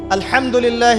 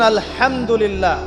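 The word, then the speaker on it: الحمد لله: আলহামদুলিল্লাহি রাব্বিল আলামিন। এইতো আপনি পড়ছেন আলহামদুলিল্লাহ। শব্দটা কি? আলহামদুলিল্লাহ। এই হা এর মাখরাজ কোথায়? হা এর মাখরাজ কোথায়? বলেন একজন কন্ঠনালীর মাঝখান থেকে এখান থেকে আপনি উচ্চারণ করছেন আলহামদুলিল্লাহি রাব্বিল আলামিন অর্থ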